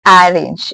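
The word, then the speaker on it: arange: It is not actually a range. Some might mispronounce it just by seeing this for the first time. This is actually a range. A range.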